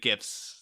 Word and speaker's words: GIF: I know the guy who created GIFs says they're pronounced GIF, but come on, it's GIF.